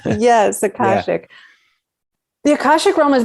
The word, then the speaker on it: Akashic: Yes, Akashic.